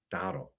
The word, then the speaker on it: Dowdle: They also signed Rico Dowdwell. How do I say his name, Steve? Dowdle.